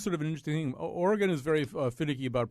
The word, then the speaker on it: Oregon: And by the way, Oregon is said Oregon, not Oregon.